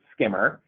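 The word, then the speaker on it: CQMRR: is this program called skimmer cqm RR the clinical quality measure reporting and repository service I don't know a mouthful but though we pronounce it skimmer it is another my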